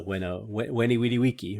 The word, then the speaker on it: veni vidi vici: So veni vidi vici, right? Veni, I came, I saw, I conquered. Veni Vidi Vici, if you pronounce it ecclesiastical pronunciation.